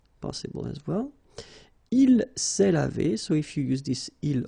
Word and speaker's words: lavés: Nous nous sommes lavés. So remember, final S is not pronounced.